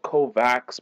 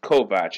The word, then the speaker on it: Kovacs: just so you know his name looks like it's spelled kovax but it's actually a an Eastern European pronunciation of the word and it's pronounced kovat it's actually sort of a thing in the